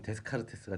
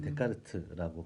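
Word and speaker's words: Descartes: 우리말로는 데카르트라고 하죠. 제가 머릿속에 생각난 사람이 맞았군요. 예. 영어로 식으로 읽으면 데스카르테스가 되겠지만 사실은 프랑스 사람이니까 이제 데카르트라고 발음하는 게 맞다고 하더라고요.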